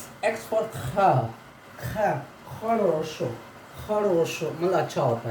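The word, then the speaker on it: хорошо: ये एक्स मतलब ख पढ़ेंगे, इसको ख से इसको पढ़ा जाएगा, बहुत ही प्रोनाउंसिएशन इसका थोड़ा अलग है, ख इसको पढ़ेंगे हम लोग, ठीक है।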